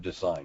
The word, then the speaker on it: design: about the spelling of design why what is it about this word that makes it a a spelling question silent G you can't hear the G it's not at all